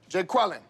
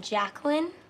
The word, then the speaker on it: Jacqueline: Jay Quellen. Where's Jay Quellen at? No Jay Quellen here? Yeah. Do you mean Jacqueline?